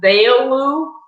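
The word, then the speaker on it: Veilleux: in english it's um my last name is pronounced veilu you know just think of it like a wedding veil in marylou without the mary so it would be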